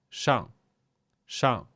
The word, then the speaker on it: 上: So the correct pronunciation is actually to avoid using retroflex sound and neither curl your lips or your tongue. Just keep the tongue flat and just say 上, 上.